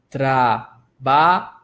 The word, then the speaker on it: trabajo: Trabajo. Mais uma vez. Trabajo. Que significa trabalho. Repare em cada uma das sílabas.